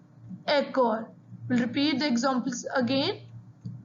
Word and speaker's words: école: That is the reason we have given the accent aigu on E. So the pronunciation is école.